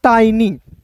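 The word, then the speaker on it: tiny: करते हैं याद रखिएगा किसी भी वर्ड्स के अंतिम में वाई दिखेगा ना तो उसका उच्चारण दोस्तों ई के रूप में ही करना है। ठीक है? तो क्या हो जाएगा दोस्तों? टाइनी।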